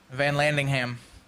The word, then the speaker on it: Vanlandingham: also joined by austin van landingham hey is that really how you say it yeah it's just like it's spelled it's not like nothing